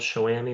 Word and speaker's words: Showami: And is it really called Shawami or am I saying it wrong? No, you're doing good. Um, okay. It's it's uh it kind of came about with um Shami, which ami means friend in French.